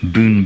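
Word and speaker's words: ブーン: a bit strange are the Japanese one it's spelled here b n Boon Boon and in Turkish uh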